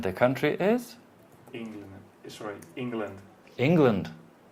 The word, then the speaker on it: England: Sorry, England. England. Where's the stress? On the E, right? England. Exactly. And the second syllable is? Very short. It's very short, almost not there. It's the schwa.